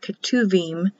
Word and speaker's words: Ketuvim: Like Ketuvim is written with a B, but pronounced as a V.